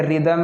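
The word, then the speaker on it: rhythm: फिर ये रिदम है, इसमें एच साइलेंट है, क्या साइलेंट, इसमें एच साइलेंट है, निशान लगा दिया मैंने, रिदम, रिदम डिवाइन।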